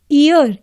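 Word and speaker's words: year: अब ईयर जो है हमारा ब्लैंक के बाद जो फर्स्ट वर्ड है इसमें वाई साइलेंट है. ईयर, इसको ईयर करके प्रोनाउंस कर रहे हैं, तो ई क्या है?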